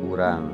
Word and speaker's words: urang: Jadi sekarang dibacanya urang ya.